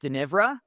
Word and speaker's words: Dnivra: So it was written by a guy who, if you spell his last name or first name backwards, it's pronounced Denivra, right?